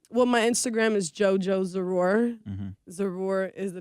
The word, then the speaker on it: Zarur: Zarur. Zarur. And that's why I was letting him say it because in all honesty, I was pronouncing it kind of like Zara.